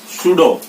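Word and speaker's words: pseudo: Next word है हमारा सुडो। सुडो जो वर्ड है वो भी इसमें आपने देखा पी के बाद ऐसा आ रहा है, इसलिए पी यहाँ पे भी साइलेंट हो गया।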